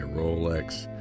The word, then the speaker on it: Rolex: at my favorite watch in my collection, my Rolex Z-Blue dial, Milgauss or Milgauss. There's different ways people pronounce even the name of it.